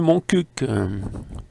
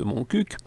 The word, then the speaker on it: Montcuq: Comme il convient de prononcer le Q de Montcuq, un autre fut ajouté, promptement abrégé par ma plume aux idées humoristico-impertinentes, en Montcuq en QB.